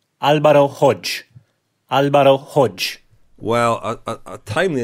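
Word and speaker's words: Hodeg: I'm classic on Friday on Eurosport and he pronounced the name as you did Lionel Hodag and he then was sent some messages from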